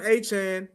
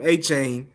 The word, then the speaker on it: Achane: Devon Achane is, if we said his name wrong forever and a day, we've been calling him Achane forever and a day, and his name is Achane.